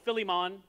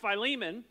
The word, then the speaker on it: Philemon: how to pronounce philimon they want to call it filimon which sounds like you're from Philadelphia I don't know why